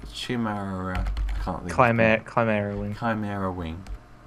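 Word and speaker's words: Chimaera: Rather than doing a command, they can use the wing, which I've already forgotten how to pronounce the name of. Chimera. Chimera.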